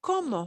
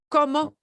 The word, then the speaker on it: como: como uh the word como how there is no difference what so ever in the pronunciation of como the verb meaning i'm eating coma and como meaning how there is no difference at all you here's where you